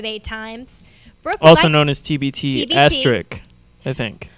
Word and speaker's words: TBT*: times also known as tbt astric i think right am i pronouncing that is the asterix silent yes the asterisk is silent okay excellent brook we'd